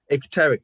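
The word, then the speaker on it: icteric: there is it and it could i can't pronounce it exteric thank you oh yeah i was better i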